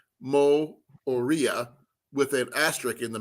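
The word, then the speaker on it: Moorea: bay of islands to auckland and then tahiti more moria more more honolulu that's in october oh it's french polynesia it's an island in the uh south pacific and it's actually spelt pronounced mo oria with an asterisk in the middle between the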